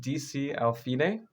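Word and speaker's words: D.C. al fine: So this one is, well, you pronounce it DC al fine, and the DC stands for da capo, so more Italian.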